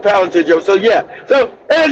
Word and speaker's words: Palantir: Planta Plantia gives ICE, if I'm pronouncing, I don't know if I'm pronouncing that correctly.